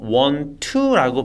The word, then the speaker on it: want to: 사용해서 I Want To Want to를 줄여서 원 투라고 발음을 해주시면 돼요 I want to drink